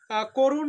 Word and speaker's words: করুণ: যেমন সংবৃত উচ্চারণের ক্ষেত্রে একটা শব্দ আসতে পারে যে করুণ, করুণ শব্দটাতে অটা ও হয়ে গেছে করুণ, ক এর সাথে যেহেতু